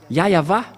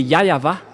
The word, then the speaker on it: Yahweh: Ici, chez les orientaux, ils prononcent vraiment le W par un V ou par un B. C'est ici qu'on voit clairement que le W est bien un V, mais ce sont les occidentaux qui l'ont changé en OU. Mais pour les orientaux, ils prononcent bien le W en tant que V. Mais c'est le V qui est vraiment la bonne prononciation.